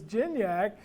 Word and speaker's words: Gignac: the double whammy your your last name is Jim yak and you have to tell me you pronounce it like cardiac so I've had to